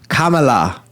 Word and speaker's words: Kamala: It's pronounced Kamala. I think Brian pronounces Kamala, though.